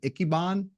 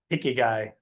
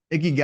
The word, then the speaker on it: Ikigai: I want to ask you a question about, I think you called it an Ikiban, Ikibod? Ikigai. Ikigai. I don't know So if I'm pronouncing it right.